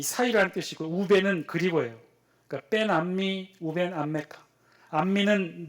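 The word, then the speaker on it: בין עמי ובין עמך: 원래 히브리 원어로는 이렇게 돼요. 벤 암미 우벤 암메카. 벤 암미 우벤 암메카. 벤이라는 단어는 이 사이라는 뜻이고 우벤은 그리고예요. 그러니까 벤 암미 우벤 암메카.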